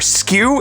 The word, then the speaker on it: SKU: unit my friend so when you hear the phrase out there skew it's not spelled like you know somebody's tilted it's sku anyways people speaking with